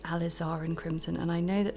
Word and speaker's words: Alizarin: that some of you pick me up on that and say it's Alizarin. I'm afraid I'm never going to remember that, so you're just going to have to put up with me saying it wrong.